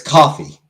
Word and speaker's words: Ko-fi: Uncle Buck donated to my coffee, like Ko-fi as they call it. It's coffee. I don't know why they call it Ko-fi when coffee just genuinely makes more sense.